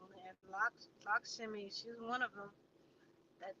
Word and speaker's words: Lakshmi: or Lakshmi, as some of y'all say, but Indian people say Lakshmi. They say it's funny like that. Well, they say it properly, but she's representing that energy.